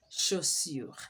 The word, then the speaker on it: chaussures: We said that CH is pronounced as sh, not ch. Des chaussures.